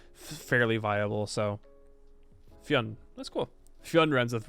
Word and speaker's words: Fionn: The story of Fionn McCool. Fionn. Okay, cool. Fionn. That is nice to know.